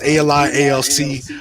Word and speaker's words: Ali ALC: you can just but technically it's it's actually pronounced uh like like initials ali so that's what i go by but uh it's ali alc um that's basically who